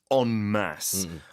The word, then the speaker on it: en masse: And one other key phrase, I suppose, is they're not doing this en masse. En masse. It comes from French, so that's why it's spelled E-N-M-A-S-S-E.